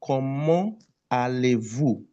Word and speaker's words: Comment allez-vous: But when you want to pronounce, you will liaise T and A, become ta. Comment allez-vous? Comment allez-vous? You see the T and A, we now liaise. There's a liaison between T, A, ta.